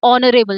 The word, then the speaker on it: honorable: So O honorable it sounds like O. So it sounds like it's starting from O.